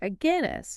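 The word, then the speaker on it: Aguinis: research by a Guinness a Guinness and Pierce it's pronounced like the beer by the way oh okay that highlights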